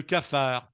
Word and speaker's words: cafard: J'ai le cafard.